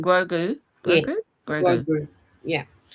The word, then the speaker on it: Grogu: And Timmy said, Gorgy. Oh, that's the little Yoda one. You know, the little baby one. His Oh, name, Grogu.